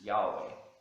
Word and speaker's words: Yahweh: gron is yhw uh which most Scholars agree the most accurate pronunciation of God's name is Yahweh um I'm just going